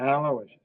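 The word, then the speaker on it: Aloysius: Aloicious.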